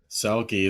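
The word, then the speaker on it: Selke: Selkie. It's like selfie, but more masculine.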